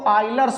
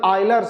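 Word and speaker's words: Euler: लिए हम लोग लगाएंगे यूलर का सेकंड ऑर्डर इक्वेशन तो नाउ बाय एक्चुअल में इसको आइलर पढ़ा जाता है अब वो स्पेलिंग ऐसा अंग्रेजी में है लर्स वैसे इसका प्रोनंसिएशन आयलर है तो सेकंड ऑर्डर का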